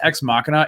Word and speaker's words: Ex Machina: oscar isaac and alicia vikander it was uh ex machina um anyway i would highly recommend if anybody hasn't seen that it's spelled x machina for those who are like what but it's pronounced ex machina it is a fantastic movie directed by alex